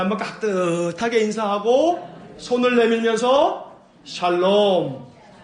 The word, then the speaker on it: 샬롬: 인사 한번 깍듯하게 인사하고 손을 내밀면서 샬롬. 또 이 발음 잘해야 돼. 살롬 뭐 이러면 안 돼.